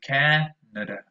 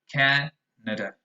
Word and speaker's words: Canada: the matter is that the first vowel sound is very strong. It's actually an ash, ca, but the other two are usually very weak. The other two are schwas. So you say Canada, Canada, nada, nada.